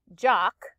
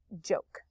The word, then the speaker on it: joke: then a silent e remember that vowel is going to make the long o sound if it's an o and you do not hear the e so this would be jock joke jock is actually a